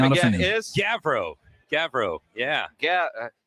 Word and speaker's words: Gavrow: understandable roger your last name again is gabriel gavrow yeah yeah gavrow like g-a-v-r-o-w if you were going to pronounce it i guess but okay because rob's